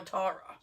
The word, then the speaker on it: Tara: the other day about how to pronounce my name is it Tara or taro like I don't give a fancy about it taro I said I don't care I'll answer to both you just pointed me